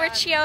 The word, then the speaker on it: Riccio: MEGHAN.RICCIO Oh, Riccio, if you didn't know how to pronounce it.